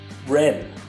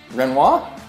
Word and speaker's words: Rennes: How can you not pronounce that? Rennes? It's Rennes. Renoir?